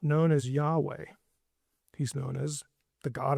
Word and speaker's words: Yahweh: But my name is I am which in Hebrew when the first person speaker is speaking is when you refer to that person, the pronunciation is Yahweh.